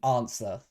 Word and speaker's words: answer: What do you mean answer? I guess the W is silent.